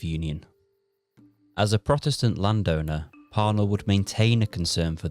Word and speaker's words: Parnell: And yes, that's how I'll be pronouncing it. Parnell, like but was from a family of wealthy Protestant landowners.